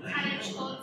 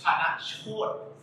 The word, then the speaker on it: Tanachot: Chữ Thai คือ Kanachot. Ooh, pretty good. Close? Yeah. It's Tanachot.